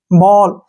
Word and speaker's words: ball: जैसे नेक्स्ट है FALL, फॉल, SMALL, स्मॉल, STALL, स्टॉल, TALL, toll, WALL, वॉल, BALL, बॉल।